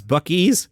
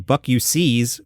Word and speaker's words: Buc-ee's: bues a truck stop no how do you pronounce buckes the correct pronunciation is Buck e saying Buck you sees will Mark you as an outsider FedEx is